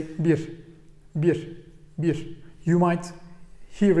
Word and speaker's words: bir: I know there's a little whistle when we pronounce it, but you can pronounce it like bir, bir, bir. It won't bother anyone and nobody will try to correct you or anything.